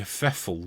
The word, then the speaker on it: Pfeffel: Well, it's actually Alexander Boris de Pfeffel Johnson. And Pfeffel has a silent P.